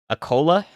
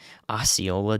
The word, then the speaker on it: Osceola: Acola? Okay, I got the pronunciation. Acola. Osceola, dude.